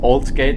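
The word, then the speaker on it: Aldgate: The reason why alt gate is pronounced old gate is because an old gate is in this platform.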